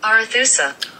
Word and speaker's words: Arethusa: I'm interested to see how Google pronounces it. Arethusa.